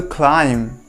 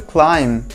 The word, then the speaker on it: climb: have is an uphill climb an uphill climb so here you have to remember the word climb here the letter b is silent while pronouncing just drop the last letter of the word climb c-l-i-m just don't pronounce